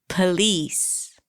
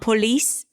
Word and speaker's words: police: Police. Are you starting to hear all those schwas? It's not police, police. Congratulations.